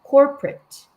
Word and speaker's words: corporate: corporate는 co하고 o 같은 소리가 나면 안 되고 corporate. Corporate.